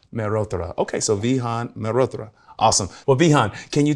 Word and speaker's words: Mehrotra: I pronounce like you're supposed to pronounce my last name. Merotra. Merra. Okay. So, Vihan. Marotra.